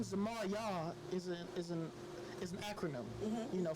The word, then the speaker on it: Yauw: Because my name Zamar Yah is an acronym. You know, first of all, Yah is spelled Y-A-U-W, and it means you are ultimately worthy.